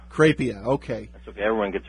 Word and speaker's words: Crapia: how do you say your last name it's pronounced kpia kpia okay that's okay everyone gets it wrong looks